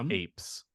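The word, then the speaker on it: AIPS: And for those at home, remember, Apis is the artificially induced psychotropic schizophrenia syndrome, often pronounced apes.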